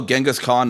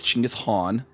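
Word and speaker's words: Chinggis Khan: Chingis Han is uh almost always mispronounced like from what it actually is. People see they're like, "Oh, Genghaskhan." No, it's like it's Chingis Han.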